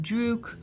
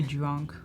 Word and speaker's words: Druk: I don't know how to say it either, but I always used to say drunk. Like, no, it's Druk.